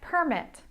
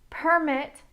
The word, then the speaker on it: permit: Let's look at permit - permit is a noun, permit is a verb. My intonation goes up when I say the verb permit.